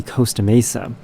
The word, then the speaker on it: Costa Mesa: someone about the city Costa Mesa. Coast is spelled Coast, but this particular city is called Costa Mesa, spelled Costa. So why is it not Costa Mesa and it's Costa Mesa? It's very bizarre.